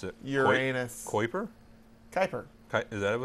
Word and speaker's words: Kuiper: Like Piper, Kuiper.